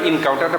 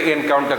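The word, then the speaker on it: encounter: কাউন্টার ইএন লাগিয়ে দিলে হলো ইনকাউন্টারটা ভার্ব হয়ে গেল। তখন কিন্তু আমরা অনেকে ভুল করে এনকাউন্টার বলি, ন, উচ্চারণ হলো ইনকাউন্টার, কাউন্টার। ইনকাউন্টার।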